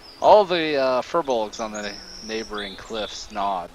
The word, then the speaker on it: Firbolgs: gly i said it wrong all the uh furbolgs on the neighboring cliffs nod and murmur to